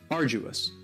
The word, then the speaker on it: arduous: Cinema syllable are Jews now you don't hear that D sound that much it's not very strong it almost sounds a little like a j arduous uh arduous and something